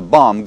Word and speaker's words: bomb: The bomb goes off tomorrow. Бомба взорвется завтра. Итак, в слове «бомба» не произносите последнюю «b».